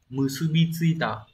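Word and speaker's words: 結び付いた: Từ này đọc là musubitsuita.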